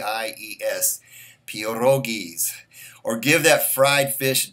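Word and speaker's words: pierogies: it's p IE r o g i es peor oh geez or give that fried fish dinner a little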